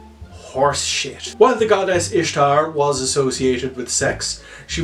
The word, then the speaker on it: Ishtar: There was no Roman festival called Easter for Constantine to Christianize, and the name Ishtar is in fact pronounced Ishtar.